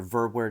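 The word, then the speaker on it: Verwoerd: also talked about how the uh prime minister verbward is how you pronounce his name he talked about colin decolonizing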